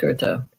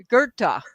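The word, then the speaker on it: Goethe: I think it's pronounced Gerta.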